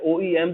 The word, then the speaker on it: OEM: ये 3 separate letters की तरह प्रोनाउंस होता है OEM।